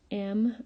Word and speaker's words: mighty: that would be mighty, M-I-G-H-T-Y. And there's the long I sound, mighty, spelled I-G-H.